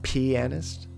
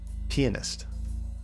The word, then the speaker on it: pianist: able to play that although pianist is pronounced with an emphasis on the first syllable for summary pianist pianist also jaws wait jaws